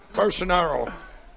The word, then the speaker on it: Bolsonaro: Bolsonaro.